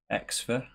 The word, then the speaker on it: Xfer: It's by a company called Xfer, I think it's pronounced X-F-E-R.